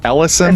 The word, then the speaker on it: Ellison: It looks like it says Elias, but it's always Ellison, I think it's how you pronounce it. Ellison.